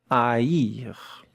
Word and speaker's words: haïr: And look at how to pronounce it, yes, with the double point here, double dot. Haïr. Haïr.